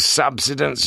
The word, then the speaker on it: subsidence: we don't—" Bit of subsidence, you reckon? The pedantic Morse gave the stress to the first of the three syllables.